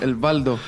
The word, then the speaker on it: Waldo: Yeah, I think Waldo makes more sense. Like Eduardo, Waldo, Waldo. El Waldo. El Valdo. El Valdo, yeah. Some people, they pronounce that as a V.